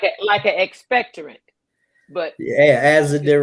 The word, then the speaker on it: azadirachtin: Probably I can't pronounce it either." He wasn't doing that. It's azadirachtin.